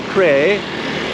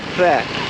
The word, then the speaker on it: Phrae: Not Phrae, not prayer, more like Phrae, Phrae, Phrae. Think like try to make PR sound and someone punch you in the stomach or something, you're gonna vomit or whatever.